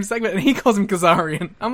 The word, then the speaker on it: Kazarian: Oh, it's Kazarian here. Yeah. Like, and then, like, because Erik Watts is in the same segment, and he calls him Kazarian.